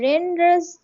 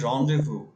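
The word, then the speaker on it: rendezvous: হচ্ছে এ রন্ডেভু। এটা খুবই সুন্দর উচ্চারণ। এটা আমি বলতে যাচ্ছিলাম। এটা হচ্ছে এ রন্ডেভু ইন old Dhaka. Renders, রন্ডে রন renders. রন্ডেভু। এটা উচ্চারণটা ডিফারেন্ট, টোটালি ডিফারেন্ট।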